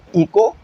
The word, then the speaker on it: echo: हम क्या कहते हैं, इको या एको भी पढ़ा जा रहा होता है, लेकिन इको पढ़ेंगे। अगर गूगल ट्रांसलेटर पे जाके इसकी प्रोनाउंसिएशन सुनोगे ना तो वो एको कह रहा होगा, लेकिन हम जो है हर जगह इको ही सुना है तो हम इसे इको ही पढ़ेंगे, ठीक है।